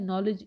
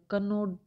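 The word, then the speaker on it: knowledge: एक है नॉलेज, इसमें नॉलेज में के नहीं तो कनो हो जाएगा, कनोड, कनोड नॉलेज, तो ये कनोड, इसका तो उच्चारण ही संभव नहीं है, इसमें के डब्ल्यू डी तीनों ही कनो लीज तीन है, ठीक है। तो ये तीनों ही इसमें के डब्ल्यू डी साइलेंट है, हम इसको सीधा नॉलेज बोलते हैं, नॉलेज, एन ओ डब्ल्यू,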